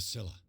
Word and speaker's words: Scylla: more than 70 years a Silla it was pronounced so I got the entrance to the harbor I never called it Scylla but that's my pronunciations who are you unfortunately